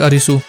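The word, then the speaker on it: アリス: अगर तुम एलिस को जापानीज एक्सेंट में प्रोनाउंस करोगे तो इट साउंड लाइक अरिसू, और ये बात सोचकर सीरीज का टाइटल मेरे लिए सेंस बनाने लगा।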